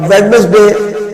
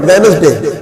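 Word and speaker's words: Wednesday: तरह काफी वर्ड है अब वेडनेसडे में ये गलत वर्ड है वेनस डे डब्लू को हम डी को हम साइलेंट कर देते हैं वेनसडे तो वो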